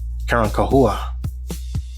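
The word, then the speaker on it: Carancahua: Their name was changed over time, twisted by Spanish tongues who couldn't pronounce the original word. Karan Kahua was their true name, spelled C A R A N C A H U A.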